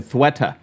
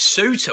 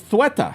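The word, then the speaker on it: Ceuta: the what's going on in Spain in theta. Uh that's how you that's that's how you say it. Yeah, I know it's spelled c ue e t a. I thought it was suta.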